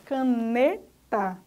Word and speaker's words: caneta: NE é a sílaba forte, caneta.